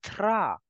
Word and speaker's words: drap: Bed sheet will be pronounced as le drap. P in the end is for decoration.